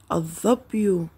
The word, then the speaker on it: الظبي: لاحظوا الكلمات مرة أخرى، الظرف لم نلفظ اللام، الظلام لم نلفظ اللام، الظبي لم نلفظ اللام.